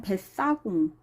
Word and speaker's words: 뱃사공: 그 다음 발음 보면은 뱃사공, 된소리 돼요.